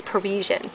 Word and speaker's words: Parisian: this is sweetness sorry and then there's the prian if I'm I'm think I'm probably saying it right Parisian I'm a little birdie told me it's Parisian so there's old school